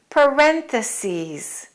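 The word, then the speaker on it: parentheses: the sentence in parenthesis make sure you pronounce the E's parenthesis and a lot of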